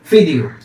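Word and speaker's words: فيديو: ভিডিওটা চলতেছে কিনা আলফিদিশ ভিডিও ফিদিও যখন আরবিতে বলা হয় তখন তোখানে ভি থাকে না বি যেটা সেটাকে ওরা ফায়ে উচ্চারণ করা হয় ঠিক আছে বলতে চলতেছে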